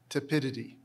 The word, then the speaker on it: tepidity: Can I hear the pronunciations again? Inducement or inducement? Inducement. I-N-D-U-C-E-M-E-N-T. That is correct. Your word is tepidity.